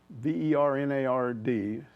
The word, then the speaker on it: Bernard: get a new coach Bernard b-e-r-n-a-r-d pronounced Bernard Alexander he kind of